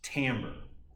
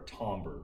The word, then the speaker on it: timbre: and probably the more formal official word is timbre it is spelled with an i t-i-m-b-r-e but is pronounced tambour or tomber if you want to be fancy and most